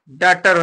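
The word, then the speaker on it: daughter: कर देते हैं अब यहां से एच को साइलेंट करके इसको पढ़िए डी ए यू जी टी ई आर क्या हो जाएगा डटर हो जाएगा क्या हो जाएगा डटर डटर माने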